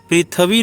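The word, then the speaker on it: पृथिवी: आप देख सकते हैं पहला जो क्लिष्ट शब्द है वह क्या है द्या वा पि थि व य पृथ्वी नहीं है पृथ्वी है उसके बाद क्या है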